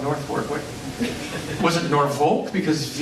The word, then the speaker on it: Norfolk: It's Norfolk, right. This is Norfolk Is that because it's the North Fork of a river or. Yeah. So why the hell is this called Norfolk?